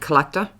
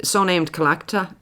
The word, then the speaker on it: Tlachtga: So Samhain originated in Ireland, and in particular in a place called Tlachtga, or it's also known as the Hill of Ward, or the Hill of the Bards, or the Hill of the Druids.